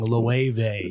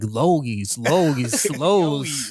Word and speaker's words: Loewe: Loewe. Yeah, my homie Use your from fucking brain. my homie from New Orleans, he was like Logies. I was like, no, it's I'm a Loewe.